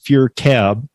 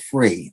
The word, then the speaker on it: FURE: having me on today so I might have just thrown a few people off when I said f cab um I know that it's or I believe and we're going to get into it it's fear cab ride share so yeah it's ride share the proper name is actually called free I actually find